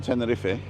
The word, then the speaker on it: Tenerife: there I love teni you know how you pronounce the e in Tenerife well you also pronounced